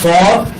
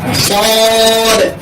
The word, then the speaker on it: صاد: এই হরফের নাম হলো সদ। এটা নরম হবে, শ্বাস চালু থাকবে, মাকরাজ 12 অনুযায়ী হরফটাকে উচ্চারণ করতে হবে।